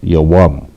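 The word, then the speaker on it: יום: Spelled with the ya, a wa, and the ma. The ya and the wa, the wa and the ma are connected, and it is pronounced yawam. All right.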